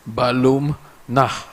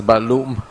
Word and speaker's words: Balum Nah: specifically b i um my surname is difficult for people to un to to pronounce but it means Jaguar home in Maya which is balum nah yesterday I heard leader of the opposition mispronounced my name I forgive him you may not know better you pronounce it as balum and also with your